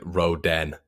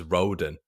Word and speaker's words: Rodon: I say his name as Roden, so I don't know why I've put Roden.